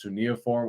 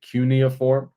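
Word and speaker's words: cuneiform: which develops in mesopotamia which is sunni form or as some uh pronounce it cuneoform and then a primary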